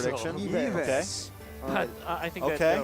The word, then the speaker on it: Yves: I mean, Filipinos pronounce it as Audience Ives, prediction? So. Yves.